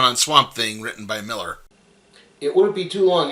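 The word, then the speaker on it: Millar: that it's both an A but it is pronounced Miller Miller struck up a friendship with Morrison at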